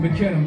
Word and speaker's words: Miknna: For those that don't know, we go by the name of Miknna. That's how you pronounce it, Miknna.